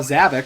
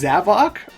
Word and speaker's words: Zavok: But in Sonic Forces, Sonic saw Zavik, and he said, Zavok? And I was like, whoa, Zavok? What? His name is pronounced Zavok?